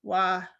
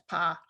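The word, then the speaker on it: は: is actually derived from topic marker, wa, which used to be pronounced as pa in Old Japanese.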